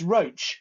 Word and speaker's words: Roche: um just to say it's roach as in coach very appropriately the pronunciation not rush as in drug company